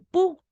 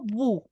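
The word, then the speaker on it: 不: ¿Cómo digo no en chino? Pu, no bu, porque se escribe veu, pero la v, las consonantes suenan fuertes en el chino. Entonces va a sonar pu.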